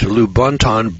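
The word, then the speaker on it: Lubaantun: The 11-pound skull was unearthed by Michael Hedges at Lubonton, British Honduras. Now, this is spelled L-U-B-A-A-N-T-U-N. Lubonton, British Honduras.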